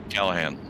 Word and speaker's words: Callahan: I always say it's Callahan. That's how I pronounce it, Callahan. Right. Yeah, Callahan.